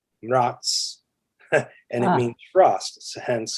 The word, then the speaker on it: Mraz: And my last name, Mraz, is Slavic. It's from my family comes from Czechoslovakia, and it means frost. And if you actually say it right, it's Mraz, and it means frost, hence.